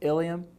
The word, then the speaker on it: ilium: first one is the Ilia more sometimes you'll hear it pronounced the ilium then you have the